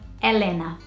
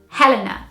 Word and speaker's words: Helena: And Brazilians pronounce this name Helena. And I think here in the UK you would say it Helena.